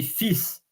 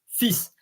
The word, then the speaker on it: fils: Like, and in that case, you say fils, fils. You don't say fils, you say fils, as the L is silent.